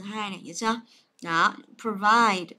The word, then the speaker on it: provide: Đó, provide nhớ đọc là pro nhé. Đấy, không đọc là provide, chứ đọc là provide.